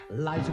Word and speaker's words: Liza: It's Liza with a Z, not Lisa with an S, 'cause Lisa with an S goes nuts. It's Z instead of S, it's Lie instead of Lee.